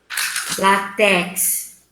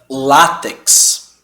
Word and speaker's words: látex: Látex. Vou te dar uma dica. A gente pronuncia látex.